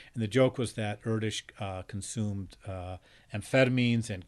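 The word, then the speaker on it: Erdős: long time said mistakenly Aeros uh because it's um leaving out the so-called diacritic marks you know little dots and dashes and check marks and stuff over the letters the the name is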